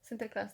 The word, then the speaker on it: Sinterklaas: Sinterklaas, that's how you say it? Yes.